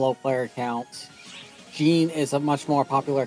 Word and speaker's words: Jean: Jean is a much more popular character than anyone from New Genesis. Yep. Uh Jenna is the actual uh pronunciation.